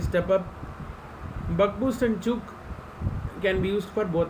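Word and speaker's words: Ćuk: of his name so you have to pronounce it as only chook then comes isolated we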